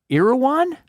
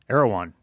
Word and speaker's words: Erewhon: Shipped internationally to over 65 countries, now in Sprouts, Central Market, and Erewhon? Erewhon. Is that how it's pronounced?